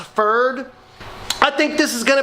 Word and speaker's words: PFERD: I think it's pronounced FERD.